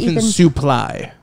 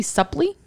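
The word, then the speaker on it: Suplee: last name again sorry suly s u p l e e I think that be Supply but it's pronounced su he really really has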